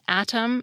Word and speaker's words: atom: That’s what turns pairs of words such as “atom” and “Adam,” “hearty” and “hardy,” and “bitter” and “bidder” into homophones.